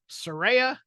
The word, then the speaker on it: Saraya: Saraya, as she has told us it is pronounced.